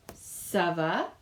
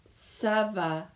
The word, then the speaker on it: ça va: And it's C-A, and you'll notice a little squiggle here underneath the C, and that makes it a sound. So the way we say it is ça va, ça va. And it's nice because it rhymes with itself as well.